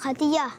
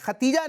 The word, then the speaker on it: خدیجہ: حضرت خدیجہ۔ ماشاءاللہ، حسن بھائی کا جواب بھی درست ہے۔ یہ ختیجہ نہیں بلکہ اس کا تلفظ کیا ہے؟ خدیجہ، دال کے ساتھ، خدیجہ۔ کیا ہے؟